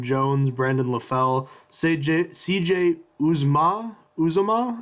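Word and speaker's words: Uzomah: Brandon LaFell CJ CJ oozma Zuma I believe it's how you say it among other players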